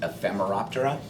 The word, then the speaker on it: Ephemeroptera: the group um the order for mayflies is pronounced ephemeroptera there's Stone flies these are the ones that